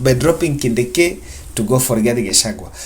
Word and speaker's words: Kindiki: change them by dropping Kindiki, and I hope I'm pronouncing it well. That's how I realized it's pronounced, by dropping Kindiki to go for Rigathi Gachagua.